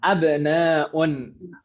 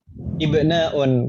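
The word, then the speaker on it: abnāʾun: Hamzahnya dibaca fathah. Abnaun. Ibnun jamaknya abnaun. Hamzahnya jadi fathah dan jadi hamzatul qat'i. Itu Ibu ya, jangan sampai salah. Di kelas lain bahkan ada yang membacanya ibnaun karena dikira sama dengan ibnun.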